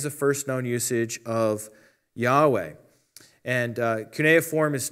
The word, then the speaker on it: Yahweh: the original hebrew god's name which is commonly pronounced yahweh the first evidence we have on the planet